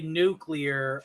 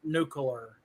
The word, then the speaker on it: nuclear: Listen, Shrubby, I will say nuclear all day long, not nuclear.